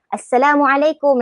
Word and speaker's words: Assalamualaikum: Itu yang penting, panjang, kum tu pendek, K-U-M. Assalamualaikum. Nanti orang kata, pelik engkau ni, tiba-tiba engkau baru balik daripada negara Arab ke ni? Tak apa, because that is how it should be. Inilah.